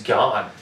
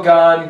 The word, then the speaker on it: Gane: I think it's Gan. Yeah, that's it.